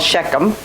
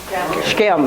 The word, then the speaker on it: Shechem: last week it's called it's not called Shechem that makes you an English feature speaker is what's called anybody remember scam that's just one syllable word scam okay it must be